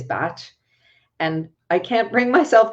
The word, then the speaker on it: Bach: Bach, Edward Bach, and let me just say with all love and appreciation for him, he called himself Edward Bach. His pronunciation of his name is Bach.